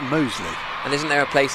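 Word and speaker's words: Mousley: And actually the other one, which I didn't know about and wouldn't probably have asked, is that it may be spelt Moseley, but it's actually pronounced Moseley.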